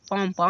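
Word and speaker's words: palm: एम से पहले एल हो, तो एल प्रायः साइलेंट होगा। देखो, एम के पहले एल है, तो इसको साइलेंट कर दिया गया। पॉमप मींस क्या होगा?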